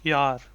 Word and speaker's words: jaar: Because J is pronounced as ja.